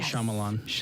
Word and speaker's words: Shyamalan: And then also, same guy, Shyamalan. Did I pronounce that correctly this time? Yes. M. Night Shyamalan.